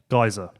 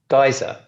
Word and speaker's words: Gajser: I noticed somebody on Twitter keeps saying I pronounce Gajser wrong. How do you say it? Gajser. Gajser. So what do I say? Gajser. You say you put a little European twang on it.